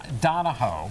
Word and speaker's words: Donahoe: He's known the guy since high school, and he mispronounces his name. It's Donahoe.